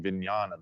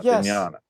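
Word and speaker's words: vijñāna: It's a Oh, vignana. You're talking vinyana. That's a Buddhist term. Yeah, vinñana.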